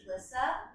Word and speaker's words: Elissa: My name's Elissa. So I always like to say it's like Melissa no M, because it's very hard to pronounce otherwise.